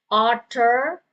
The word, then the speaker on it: author: Okay, author, the author John Grisham, author. And then the R is silent.